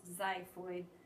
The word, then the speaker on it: xiphoid: and then the xiphoid it starts with an X but it's pronounced xiphoid the xiphoid processes that little tip